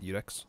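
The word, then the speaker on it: Iudex: I see from soft udex is that how is that how it's pronounced it's ux okay the more you know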